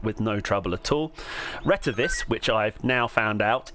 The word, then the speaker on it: Retevis: Retevis, which I've now found out is the correct way of pronouncing it, opens up with this lovely bright screen, and the machine is very, very configurable.